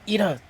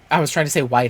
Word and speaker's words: Ida: How do you say her name? Ida. Yes. For some reason, I was trying to say Wida, and I was like, that's not right.